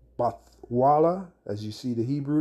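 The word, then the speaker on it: בתולה: word there is bathala the way you pronounce this is bathala bathala and what does the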